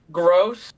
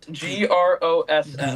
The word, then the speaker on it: Gross: German because when my family immigrated to the US, there's there's a weird letter in the German in German where it produces a double S sound and English doesn't have it.